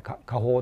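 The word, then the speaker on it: 下放: ですそれはあの下に放つって書いて家法って読むんですけども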